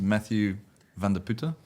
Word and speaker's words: Matthew van der Putte: name is Matthew van der Putte. Is how you pronounce it?